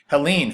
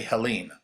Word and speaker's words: Helene: She lost only one battle, the pronunciation of her name. The people in the bottom refused to say Helene. They called her Helen Wright and left it at that.